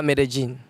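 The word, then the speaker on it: Medellín: You know, in Spanish, L is like J. Double L seems J. Okay. So it's Villa Medellin.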